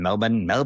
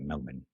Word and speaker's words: Melbourne: That's how they say it, Melbourne. But I don't say it like that. There was a city in Florida called Melbourne. And that is how I say it because I'm American.